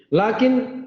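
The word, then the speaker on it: لكن: Lakin cara bacanya sukun nun, lakin.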